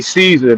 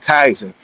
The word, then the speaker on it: Caesar: There is no soft C in Latin. It's all K. So when we say Caesar, that's not what it actually was. When they were saying it, they would have said Kaiser.